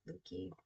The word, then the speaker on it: Leuke: Yep, Leuke.